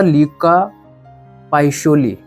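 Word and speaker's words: Luca Pacioli: में, उसका नाम था ल्यूका पाइशोली, यही शायद इसका प्रोनाउंसिएशन है, पता नहीं बाकी।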